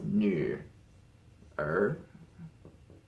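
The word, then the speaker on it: 女儿: That is 女儿. That was too far. This one actually does have a tone marker. So that's going up. This is third tone.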